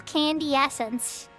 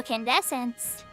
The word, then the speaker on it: Candescence: The strange thing in Alzabi is the astral candy essence. I'm saying it wrong. All who come to Alzabi want to see the thing, yeah? Astral Candescence.